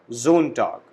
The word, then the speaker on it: Sonntag: Sunday, Sonntag. Again, S is pronounced as Z. So we call it Sonntag, Sunday.